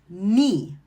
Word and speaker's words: knee: The rule is when you see the K-in together, the K is silent and you're going to say the N. For example, knee, no, knife.